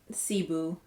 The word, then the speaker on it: Cebu: i'm in the shade i believe it's pronounced cebu c-e-b-u that's how i would pronounce it it's shade 610 this